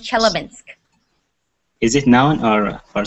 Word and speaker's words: Chelyabinsk: It's pronounced Chelyabinsk.